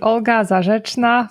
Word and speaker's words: Olga Zarr: Your name is hard for me to pronounce, so I'll rely on you to help me out. Okay, so my name is Olga Zarr from Ezoic.